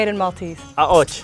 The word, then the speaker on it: Qaqoċċ: Qaqoċċ. Qaqoċċ.